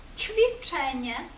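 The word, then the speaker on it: ćwiczenie: нас літера че звук ч пом'якшує наприклад у слові чвіченя вправа ч чвіченя та літера ещ ш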